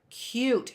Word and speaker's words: cute: with it so cute cute starts with a c not a k okay that's a hard C when a c sounds